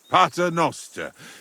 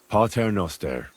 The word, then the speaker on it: Pater Noster: Pater Noster, qui isn't careless, sanctificator or no man's tomb.